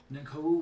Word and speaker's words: Nankoa: It's Nankou. And Koa. It's Nanko. I'm pronouncing Nanko. It's Nanko actually.